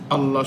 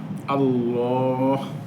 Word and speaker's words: الله: আল্লাহ শব্দ পড়ার নিয়ম আল্লাহ শব্দটি উচ্চারণের দুটি নিয়ম এক নাম্বারে পূর্বা মোটা আল্লাহ মোটা করে দুই নম্বরে বারিক বা পাতলা আল্লাহ বিল্লাহ তাহলে আল্লাহ আল্লাহ দুইভাবে পড়া যায় মোটা করে পাতলা